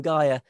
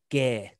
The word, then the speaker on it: Gaer: all the bits it's it has taken it from gaia but is pronounced by all and sundry gear every historical uh bit